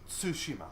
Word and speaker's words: Tsushima: Tsushima. You have to say the T with the S. Yeah, if you're trying to say it correctly, I mean. Tsushima.